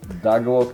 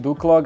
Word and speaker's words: Duklock: slovenských YouTuberov to som ja to som ja dgl Či zle som to vyslovil v pohode akože Má to byť Duklock ale ľudia sú ľudia sú proste môžem nadávať